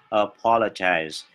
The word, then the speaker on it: apologize: Tiếng Anh người Anh đó là apologize. Tuy nhiên tiếng Anh người Mỹ amo đó đổi thành amo, thì đó apologize.